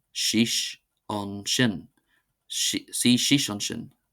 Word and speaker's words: suigh síos ansin: See c see c see c see c see c see c see c see c see c see c see shish on shish meaning sit down there.